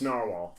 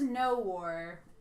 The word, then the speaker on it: Noxwar: It's Narwhal. I assumed it was no war. Pretty sure it's Narwhal.